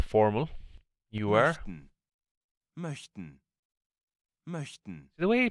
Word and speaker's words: möchten: Because it's like a, the M-O-C-H, the C-H-T part is, like, really tricky to pronounce.